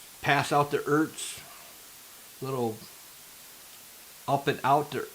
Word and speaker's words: Ertz: E-R-T-Z. I don't know how you pronounce his last name. Ertz? Ertz. Ertz. That's his name, Ertz.